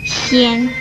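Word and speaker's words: 纖: 纤这个字的国语注音是纤，一声纤，吸烟纤，一声纤。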